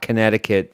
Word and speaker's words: Connecticut: So if you're looking to spell that word, it's not Connecticut, the silent C, it's Connecticut.